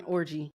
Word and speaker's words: Orji: Yeah, the viral conversation with Yvonne Orji, star of is that how you pronounce her last name? Orji? It's Yvonne Orji.